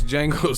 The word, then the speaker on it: Django: We gotta take some of the pressure off Joshua, so you wear this monkey ass Django suit, the D is silent ass suit, and then we're gonna put Joshua on this belt tour.